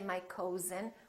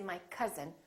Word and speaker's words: cousin: But also, sometimes this sound is spelled with OU, as in words like cousin, my cousin. We don't say my cousin, we say my cousin, or country.